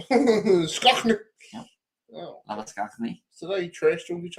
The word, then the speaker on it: Labuschagne: Fun fact: if it's an Afrikaans name and pronounced that way, it is Labuschagne. Skachnik. Yep. Oh. Labuschagne.